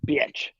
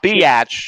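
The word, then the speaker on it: bič: It's BIC, but it's pronounced bitch. Bitch. Not biatch. Pronounced BITC. Bitch. It's bitch.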